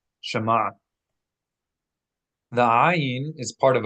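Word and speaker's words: שמע: Shema is a two-syllable word. Sh and ma. Shema.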